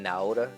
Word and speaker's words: Naota: So now to this day now, I just call it Naota because they're going to call me that anyway. I've already accepted that's the pronunciation they want.